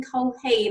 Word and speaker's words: Culhane: I'm Lorraine from You'll Know When You Get There, and I'm joined today with Damian Culhane. Am I pronouncing that right?